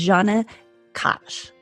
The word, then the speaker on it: Djana Kazic: My guest today is Djana Kazic.